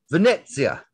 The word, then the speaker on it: Venezia: Tanner Tessman also played for 10 minutes and extra time for Venezia, or as told by an Italian, I need to do Venezia. That's how I'm supposed to pronounce that.